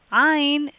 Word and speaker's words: Ain: Ain, modern pronunciation like the aleph, and traditionally in the throat.